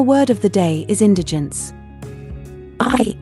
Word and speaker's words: indigence: poverty If you experience indigence you have a critical need for food money and other resources to correctly pronounce Indigent accent the first syllable in IND D gens it means great lack